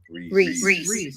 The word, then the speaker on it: Reese: We say it Reese. Reese. Yeah, like Reese's Pieces.